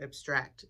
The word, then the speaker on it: abstract: Next section page 19 in this edition, section is called the words for ideas, and this next concept is abstract, or abstract as the verb would be pronounced.